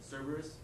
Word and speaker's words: Cerberus: GM is an example where in the paper this morning they're talking about Cerberus. I think that's how you say it. Cerberus. How do you say it? Cerberus.